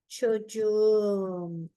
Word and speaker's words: çocuğum: The original çocuk, the last letter k turned into soft G. Why? Because k is a hard consonant. So when I add a vowel, it turned into soft G, right?